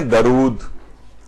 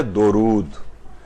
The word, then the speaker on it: درود: غلطی ہے تلفظ کی، لوگ اسے پڑھتے ہیں درود. اردو میں بھی استعمال ہوتا ہے کہ بھائی دم درود، آپ نے سنا ہوگا. تو یہ درود نہیں ہے بلکہ ہے درود.